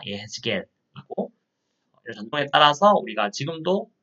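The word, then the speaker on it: יחזקאל: 그래서 히브리어 성경은 에스겔 선지자 이름 따서 사실 발음을 정확하게 히브리어에 가깝게 하면 예에스겔입니다. 예에스겔이고 이런 전통에 따라서 우리가 지금도 번역을 대부분 다 성경을 영어 번역이든 다른 번역이든 대부분 에스겔 이름으로 하고 있습니다.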